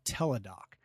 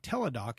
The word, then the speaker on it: Teladoc: you about an app this app is called tedoc now I knew I had this I think